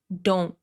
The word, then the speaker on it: don't: Stopped t at the end of this contraction don't don't move here.